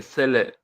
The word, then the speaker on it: Salem: I'm very particular about the pronunciation of my name because this is YouTube, I suppose. It's Salem. Okay, So Sele.